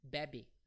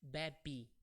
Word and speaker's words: bebe: And one thing, this e at the end of the verbs is pronounced like an I. So we don't say in Brazil, we don't say bebe. In Brazil, we say bebi.